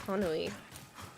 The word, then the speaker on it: Hanui: But yeah, but he said it's closer to honey, but not exactly honey.